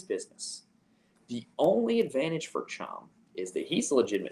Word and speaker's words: Cham: I've learned it's pronounced Cham, even though it makes 0 logical sense. That should not be pronounced Cham, but I digress.